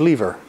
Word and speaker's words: lever: If you remember from grade 3 that there are three classes of lever, or lever if you live in a place where they spell it with two V's.